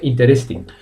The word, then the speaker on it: interesting: We don't say interesting. Okay, so the correct pronunciation is interesting. So imagine there is a tilde on the first I.